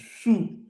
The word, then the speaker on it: sju: Can you pronounce that? SJU. What is SJU? It's number 7. I didn't even know. It's shoe.